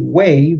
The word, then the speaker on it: waive: it's not confusing enough w a i v wave which is the same spelling and I mean pronunciation spelling is different that means to kind